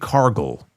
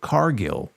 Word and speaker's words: Cargill: It is not Jade Cargill, okay, like gargle. It's Jade Cargill.